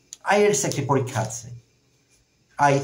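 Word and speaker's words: IELTS: টি এস আই এলস আমি এটিকে আইএলস বলছি কারণ এটি একটি অ্যাক্রোনিম যদি অনেকে ভুল করে আই ই এল টি এস বলে থাকেন সেরকম বলা যাবে না ওয়ার্ডের মত প্রোনাউন্স করে বলতে হবে যেসব এব্রিভিয়েশন কে প্রোনাউন্স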